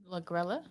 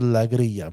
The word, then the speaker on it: Lagrella: Lagrella? Lagrella or Lagria? I'm going to go with Lagria because in Spanish, 2 L's is a Y.